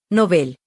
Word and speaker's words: Nobel: Por cierto, la RAE recomienda pronunciar el nombre del premio como palabra aguda, o sea, nobel, pero ese es otro tema.